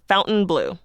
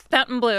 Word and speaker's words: Fontainebleau: Blue it should be Fountain blow it's another I know it's it's so confusing but it's uh they pronounce it Fountain Blue Fountain Blue okay and yeah I